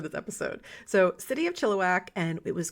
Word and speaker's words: Chilliwack: and which I've also been told I've been mispronouncing for all of these episodes calling it chiliwack chillak so actually spoke with a friend of